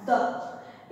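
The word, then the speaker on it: the: आज का पहला वर्ड है हमारा द। इसे द भी पढ़ते हैं और दी भी पढ़ते हैं। फ्रेंड्स, इसका प्रोनाउंसिएशन कभी द होता है और कभी दी में भी होता है।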